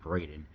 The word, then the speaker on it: Braeden: He concocted the name Braeden from his birthplace of Bredenbeck, and adding the letter A so it would be pronounced correctly by English speakers.